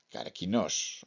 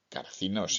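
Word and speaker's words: καρκίνος: Por eso Galeno decía que el cangrejo, que se pronunciaba carquinos o carcinos en griego y cáncer en latín,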